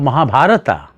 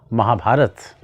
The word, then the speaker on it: Mahabharata: of saying ramayana starts saying ramayana instead of Mahabharata say Mahabharata instead of Arjuna say Arjun these are the correct pronunciations of these names words expressions yes of